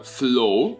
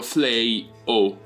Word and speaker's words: Fleaux: video Vi propongo Fly Lo so è una pronuncia alquanto particolare Eh pensavo che fosse un po' più ammiccante al francese Tipo un Flow invece per come mi sono informato io Si legge proprio flay o Questo è un gioco